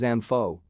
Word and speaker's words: ANFO: used bulk industrial explosive its name is commonly pronounced as ampho it consists of 94 porous prilled ammonium nitrate